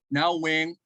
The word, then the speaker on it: Nguyen: Now, Nguyen is an actual pronunciation of my name.